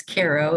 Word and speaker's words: Cairo: of the hospital i was born in in cairo new york they pronounce it cairo when it's in egypt but it's cairo in the hudson valley uh within a mile